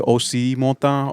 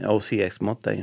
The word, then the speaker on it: OCXMOTA: A lot of people pronounce it OCMOTA or OCXMOTA. I tell people there's really no right or wrong way. It's just how you feel that day. Yeah. You can say OCMOTA or OCXMOTA. Yeah, usually when they put the X is silent.